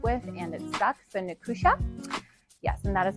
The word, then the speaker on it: Nicusia: So, Nusha. Yes. And that is how you pronounce it.